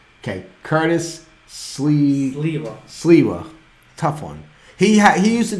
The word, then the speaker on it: Sliwa: And his name is spelled S-L-I-W-A, Sliwa. But some people call him Curtis Sliwa with an L. Right. Because there's two S's, so most people say his name wrong. Anyways, it's Curtis Sliwa.